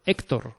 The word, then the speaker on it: Héctor: Porque si no ponen la tilde, hay que decir Ócar, Víctor y Héctor, ¿no? Y no es así. Estos nombres se pronuncian Óscar, Víctor, Héctor, ¿vale?